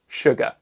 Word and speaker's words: sugar: And then finally, we've got sugar, which looks like it should be pronounced sugar, but is in fact pronounced sugar.